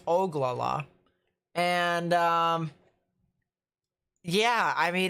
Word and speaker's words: Ogallala: a storm over there near ogallala the oglala actually it's oglala and um yeah i